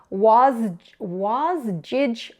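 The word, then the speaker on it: Wasgij: here it is a was was jig puzzle I think that's how it's pronounced it's jigsaw backwards now this is a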